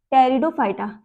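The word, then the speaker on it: Pteridophyta: कौन से? टेरिडोफाइटा। P silent रहेगा।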